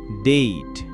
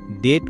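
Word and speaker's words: date: ডেইট এর উচ্চারণ হবে ডেইট। আমরা যাকে ডেট উচ্চারণ করি। কারণ এটি একটি ম্যাজিক ই সিলিব্রেলিক ওয়ার্ড। নিয়মানুযায়ী যদি কোন ওয়ার্ডের শেষের ই সাইলেন্ট থাকে মানে উচ্চারণ না হয় তখন আগের বাওয়েলটি লং সাউন্ড দিবে। তাই এখানে ডেইটের উচ্চারণ ডেইট হবে।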